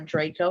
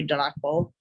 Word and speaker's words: Draco: Alpha Draconis in the Draco constellation, or Draco, as some people pronounce it as. The true pronunciation is supposed to be Draco, with that little tongue roll thing.